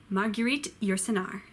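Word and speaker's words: Marguerite Yourcenar: na ma you a cleat you sit nah Marguerite you're cenar if you stayed and watched all the way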